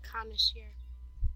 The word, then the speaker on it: connoisseur: Connoisseur. Connoisseur? Yep. Well, they should spell it correctly.